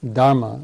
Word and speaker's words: Dharma: but he taught the dhma or Dharma as it's pronounced in Sanskrit and dhama is a